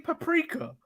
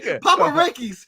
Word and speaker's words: paprika: How do you say paprika? I'm not saying you better not say paparakis. You better not say that like paparakis, Manny.